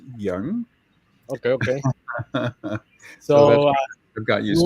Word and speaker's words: Yang: yeah yeah can say Yang you know apparently uh the spelling you know it's pronounced young that's okay yeah it's y a n g and apparently the proper pronunciation is Young okay okay so got